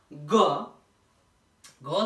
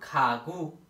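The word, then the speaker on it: 가구: हेर्नुस् ग शब्दको सबैभन्दा अगाडि आएमा प्रयोग भएमा ख को उच्चारण गरिन्छ। जस्तै एक्जाम्पलमा खागु हेर्नुस् त यो गागु नभएर खागु भयो।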